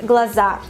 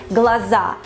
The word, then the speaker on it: глаза: Глаза, глаза. We put the stress on the last syllable, not глаза, but глаза, глаза.